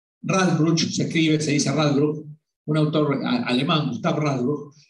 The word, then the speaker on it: Radbruch: Y como decía Radbruch se escribe, se dice Radbruch, un autor alemán, Gustav Radbruch, decía que la ley debe ser más inteligente que el legislador.